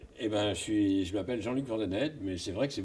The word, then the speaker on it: Van Den Heede: Je suis incapable de prononcer votre nom, je m'en excuse. Pouvez-vous nous... Eh ben, je m'appelle Jean-Luc Vandenet, mais c'est vrai que c'est beaucoup plus simple.